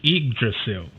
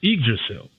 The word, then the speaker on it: Yggdrasil: So to go back and correct my pronunciation, it is Yggdrasil.